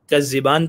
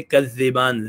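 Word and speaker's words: تكذبان: कज़िबान, अब एक है कज़िबान पढ़ना, एक है कज़िबान जाल से पढ़ना, अपनी टंग निकाल के जाल कहना, उसको प्रोनाउंस करना।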